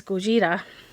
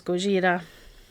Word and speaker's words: Gojira: just for fun and that is Gojira you might know that goira is the Japanese name for Godzilla so that's that's the Japanese pronunciation of Godzilla and it is basically